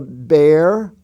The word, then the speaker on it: bear: The words bear, pair, tear, wear, and swear all are spelled with an E-A, but they sound like a long A. They don't sound like long E, they sound like long A.